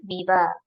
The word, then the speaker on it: Weber: do we pronounce we it's written as Weber in German but it is pronounced as via VIA okay vaa very good